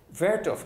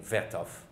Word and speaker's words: Vertov: as being Dziga Vertov, which is the German way of pronouncing Vertov, Vertov.